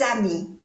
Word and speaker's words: amis: Quelques amis. No se pronuncia la S de ami.